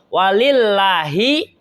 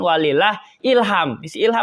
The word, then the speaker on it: walillah: Akbar dan seterusnya itu sampai walilah Ilham ingat tulisannya tuh walillahi Alhamdulillah akan dibacanya Walillah jangan walilah Ilham Siapa dibawa-bawa itu ya